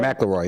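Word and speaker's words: McIlroy: Macaroy, yeah.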